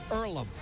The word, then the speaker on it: Earlham: pronounce that and and they said earlam so that's how you pronounce it and point beat llum